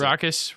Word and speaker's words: raucous: a good good one raucous is pronounced raucous raucous rock she's I mean our